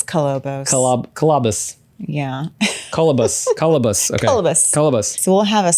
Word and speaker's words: Kolobos: going to get a saw blade that says colobos colobos cabus I'm still pronouncing it the wrong word it's cobos cabus yeah cabus cabus okay cus cabus so we'll